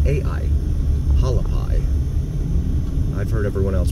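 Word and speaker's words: Hualapai: a l a p i p a i halapi I've heard everyone else pronounce it halapi so that's what I call it definitely looks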